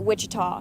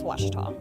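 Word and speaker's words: Ouachita: Is it pronounced Oachita? Searching for Washita Baptist University. Back in Texas, everybody pronounces it Wichita, but really, it's Washita.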